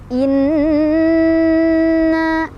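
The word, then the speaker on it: إنّا: Inna, di sana ada hukum gunnah musyaddadah, sebab ada nun yang bertasydid. Cara bacanya didengungkan. Dengungannya ditahan, boleh 2, boleh 3, boleh 4 ketukan sampai kerasa ke hidung ya. Inna kerasa.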